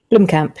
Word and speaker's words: Blomkamp: I can't pronounce his surname. Is it Blomkamp? Blomkamp, yeah.